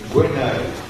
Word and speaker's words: Gwenaël: Nous allons en Égypte avec Madame Naël, je prononce mal votre prénom. Gwenaël.